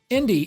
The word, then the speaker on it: Indy: actually a clever pun her name is spelled i n d y but when spoken it sounds very similar to a globally recognized word Indie spelled i n d i e there's a long explanation